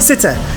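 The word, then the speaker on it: sitta: just skipped a number there number six sit sitter in uh M it's sitter sit sitter sitter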